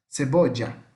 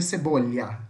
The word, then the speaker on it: cebolla: Uruguai, Paraguai, essa região, vai ter um som meio puxado isso aqui, como se fosse um X, cebolla, cebolla, né? Mas no resto do mundo que fala espanhol vai ser cebolha, tá?